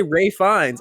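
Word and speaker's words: Ralph Fiennes: for the longest time because his name is spelled like Ralph I thought that his name was Ralph and that like like well no because I I had heard people say Ray fines and I always thought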